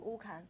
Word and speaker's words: Wukan: Wukan. Am I pronouncing it correctly? Yeah, Wukan.